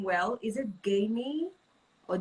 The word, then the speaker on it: Gamie: of all give me five continue am i pronouncing the name well is it gamey or jamie okay gamey okay i got it yes okay so tell